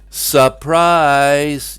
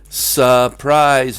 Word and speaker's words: surprise: and they all yell, surprise! Yep, surprise, not surprise. The R sound is dropped in these words as well.